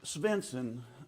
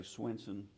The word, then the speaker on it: Svensson: It's close. Svensson, the roots go back to Denmark and Svensson. Sweden, but Svensson's the proper way. We say Swenson just because it's easier to say, but thank you.